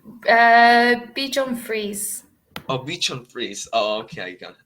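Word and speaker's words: Bichon frisé: the type of dog called puddle and Bee Bichon fries did I pronounce right uh Bichon frize oh Bichon frize oh okay okay oh it's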